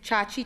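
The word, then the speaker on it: Tjaatje: He was the 4th child of 6 children born to Petrus and Chauci Tappen. Now, Chauci is spelled T-J-A-A-T-J-E.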